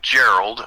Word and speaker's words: Gerald: It's like Gerald, only it's pronounced Gerald, g e r a l d.